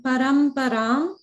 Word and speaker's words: Paramparam: One thing to watch out for in Paramparam is that it's a pa sound. So when you chanted, it sounded slightly like a ba, like a b sound.